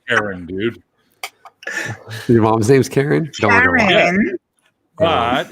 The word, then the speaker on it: Caron: Your mom's name's Karen? Karen. But it's spelled Caron.